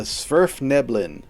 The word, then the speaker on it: Svirfneblin: The Svirfneblin.